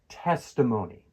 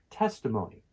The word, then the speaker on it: testimony: Testimony. Testimony. The stress is on the first syllable. Testimony.